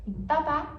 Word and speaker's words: papá: Papá é pai. Então, quando você coloca o acento agudo no final, no segundo a, é, vira papá, que é pai.